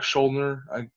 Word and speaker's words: Schuldiner: Oh, and I should say this: unfortunately, their lead vocalist and lead guitarist Chuck Schuldiner. Sometimes I mispronounce his last name, but I hope I'm saying that right.